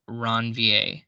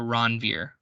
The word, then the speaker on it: Ranvier: In between the different chunks of myelin sheath, we have what are called nodes of Ranvier, or Ranvier, however you want to pronounce it, it's fine.